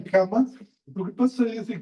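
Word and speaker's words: kamma: Entonces es una lengua más simple, o sea, pronunciar kama, pues un doble M, es más fácil que producir karma.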